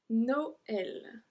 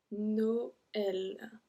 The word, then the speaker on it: Noël: Same for this one, Noël. Noël. Okay, just because there's a tréma on top of the E. Noël.